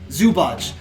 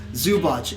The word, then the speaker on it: Zubac: Ivica Zubac? Zubac. With that guy. Good luck. That's all you. Okay. Zubac.